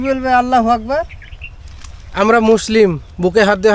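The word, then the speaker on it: الله أكبر: আল্লাহু আকবার তা বলি, এখানে গয়নের উচ্চারণ বা গয়ের উচ্চারণ করি, আর এখানে গয়ন বা গয়ের উচ্চারণ নাই। এখানে আছে কাফের উচ্চারণ, এখানে হবে ক। আল্লাহু আকবার।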